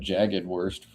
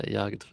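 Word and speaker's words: Jagdwurst: Did I pronounce the J wrong? Oops. You said jagged worst. My bad. Sorry, German people. Yes, a cured German sausage. Sick. Yeah, Yagv how you pronounce it.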